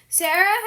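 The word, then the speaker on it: Sarai: I pronounce it as Sarah because like Sarah can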